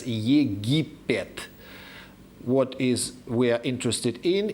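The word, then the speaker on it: Египет: The key here should be the Russian pronunciation of that name, where this land is known as Yegipet.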